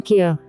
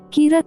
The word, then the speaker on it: Kira: soon confront the killer, whom the general public has been calling Kira, the Japanese pronunciation of the English word killer.